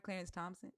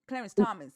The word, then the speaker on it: Clarence Thomas: So that you don't reach Did I say his name right? Clarence Thompson. Clarence Thomas. Thank you.